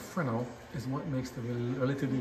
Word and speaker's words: Fresnel: side what is a Fresno lens M with me a second right a Fresno lens pronounced frenal is what makes the